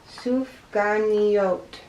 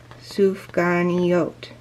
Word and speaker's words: sufganiyot: They pronounce it sufganiyot.